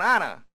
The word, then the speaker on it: honor: An honor. 에치가 묵음입니다.